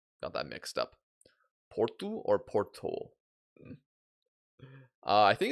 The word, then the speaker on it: Porto: It's Porto.